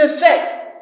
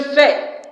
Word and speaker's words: fais: S at the end of a French word is silent.